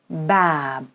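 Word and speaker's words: باب: how we pronounce it it becomes bab bab so bab is actually an actual word it's your first word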